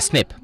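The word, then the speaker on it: SNP: does that mean and it's pronounced usually as a snip now we have the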